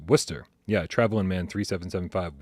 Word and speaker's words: Worcester: Pronounced Worcester. Yeah, Traveling Man 3775, Worcester, Mass. There's no R. Even though there's 2 in the word, we don't pronounce either one of them.